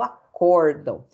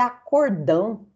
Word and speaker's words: acórdão: é o tal do acórdão, porque o cliente pensa que é acordão, né? Fizeram um acordão, né? Já que a sílaba tônica aqui é o O, mas não tem acento, né?